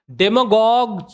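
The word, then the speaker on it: demagogue: आइए देख लेते हैं डेमगॉग जो है डेमगॉग इसको गॉग पढ़ते हैं याद रखिएगा डेमगॉग और यह भी डेमगॉगरी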